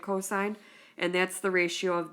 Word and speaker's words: cosine: It's written as cos when you're writing the formula, but it's pronounced cosine. You'll read it cosine.